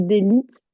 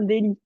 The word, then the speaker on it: délit: Est-ce que tu Délit. peux aussi me le redire? Un Délit? délit, exact. Tu m'avais dit d'élite, mais du coup, le T ne se prononce pas ici.